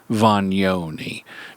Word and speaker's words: Vagnoni: and marketing Guru Anthony voni now he doesn't spell it Von but that's the Italian correct Italian pronunciation and Anthony has been